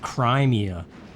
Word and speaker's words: Crimea: I also just learned that it's pronounced Crimea. But I don't like that. I like Crimea better.